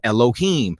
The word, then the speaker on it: Elohim: Nor curse the ruler of thy people, meaning the judges were called Allahayim, which some people pronounce as Elohim.